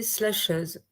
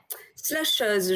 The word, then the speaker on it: slasheuse: Slasheuse, je ne le prononcerai pas avec l'accent anglais ou j'essaierai.